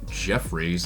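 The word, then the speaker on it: Jeffires: Another Haywood Jeffries, that is how that is pronounced, even though it's spelt differently.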